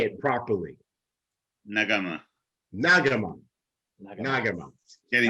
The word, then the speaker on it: Nagamah: Nagamah.